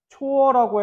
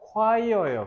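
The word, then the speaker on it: choir: 우리 잘못이 아니잖아 그지 일단은 초어라고 해버리면 이거를 읽어 버린 거예요 이게 무슨 뜻이냐면 허드렛일이에요 심부름 근데 위에 있는 건요 콰이어예요 그래서 이거는 성가대 합창단이란 뜻이에요 발음 조심하세요 이거는 그대로 그냥 생긴 대로 읽으시면 되니까 이것만 조심하시면 됩니다 이거는 콰이어예요 혹시 콜드플레이 좋아하는 사람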